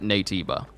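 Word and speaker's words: Naytiba: go this entire time how's it spelled NABA n a y t i b a and they pronounce it NABA or do you mean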